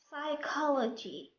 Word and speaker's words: psychology: When P comes at the beginning of a word before letter S, P is silent.